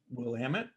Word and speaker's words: Willamette: yep um now how do you feel about willamette willamette how do we pronounce it here in lemon this way we call it willamette yeah so it's peppery and uh herbaceous with